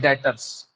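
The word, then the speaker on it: debtors: इसको लिखा तो जाता है डेप्टर्स, देख रहे हैं आप, DBTORS, डेप्टर्स, लेकिन उसको प्रोनाउंस किया जाता है डेटर्स।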